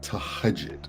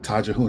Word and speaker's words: tahajjud: And Amina Roche talked about something called tahajud. I called it tajahun. I didn't know how to pronounce it. So tahajud.